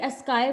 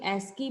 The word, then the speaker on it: ASCII: इसको कोई स्काई बोलता है, कोई एस्की बोलता है, अलग अलग प्रोनाउंसिएशन है इस कोड की।